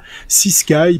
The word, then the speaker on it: CSKY.AI: comment on va évoluer si Sky puisque c'est peut-être comme ça qu'il faut le prononcer ça s'écrit s C voilà CS K y.ea si vous voulez aller